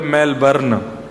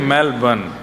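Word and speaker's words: Melbourne: कहां रहते हैं मेलबर्न हमारे एक भैया बोले मेलबर्न जो मेल को जला दे मेलबर्न मैंने कहा नहीं मेलबर्न र जो है वो साइलेंट बोलो तो लेकिन हुआ क्या यहां आके इससे बढ़िया तो भारत में ही थे।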